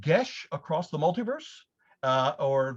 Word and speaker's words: geas: many years ago and that's the way i pronounce it uh it is a it is called gesh across the multiverse uh or for those of you who do not speak gaelic geass across the multiverse so it is uh basically